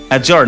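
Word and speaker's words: adjourn: অর্থাৎ আবার বলি, ডি এর পরে জি বা জে থাকলে, জি বা জেই থাকলে ডি এর উচ্চারণ হয় না।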